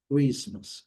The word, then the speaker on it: Christmas: Christmas. Not Christmas. Christmas. Christmas. Christmas. Colocamos o U aqui para dar o E, para melhorar a pronúncia do R, para não falar CRI.